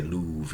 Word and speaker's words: love: It must have been, yeah, so it's difficult to say, but I would say Louvre, yeah, it rhymes with prove in those days, it does, yeah, they